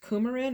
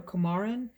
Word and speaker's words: coumarin: this other note that i think is pronounced coumarin or camarin comarin what i get out